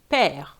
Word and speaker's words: père: Then you have the accent on the other side, which is called accent grave, and that think of the word father, père, where you really open your mouth.